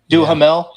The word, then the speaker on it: Duhamel: Duhamel.